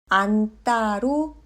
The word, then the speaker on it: 안다: 그러면 이 디귿은 뜨로 발음합니다. 안다는 안따로 발음합니다.